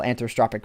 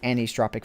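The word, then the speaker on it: anisotropic: allow you to enable anthropic filtering or I think it's actually pronounced anistropic filtering and anti-aliasing and for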